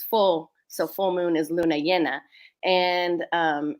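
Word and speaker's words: Luna Llena: so full moon is Luna yenna and um in Spanish it can be pronounced Jenna or Yen and so in so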